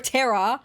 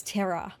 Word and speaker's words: Tera: Her name is T E R A as in Earth. Remember? So, I'm not calling her a Terror. I'm calling her by her name, which is Terra.